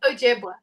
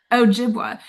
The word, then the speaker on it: Ojibwe: Ojibwa. Ojibwa.